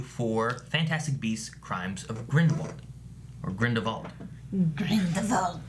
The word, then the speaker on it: Grindelwald: And we're here with a non-spoiler review for Fantastic Beasts: Crimes of Grindelwald. Or Grindelwald. Grindelwald. I always say Grindelwald, but in this movie they say Grindelwald a few times. Yeah. With a V.